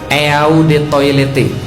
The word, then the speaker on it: eau de toilette: Pernah pakai parfum asli, ada tulisan di bawah botolnya, Eau de Toilette. Eau de Toilette artinya adalah eau de toilet bacanya.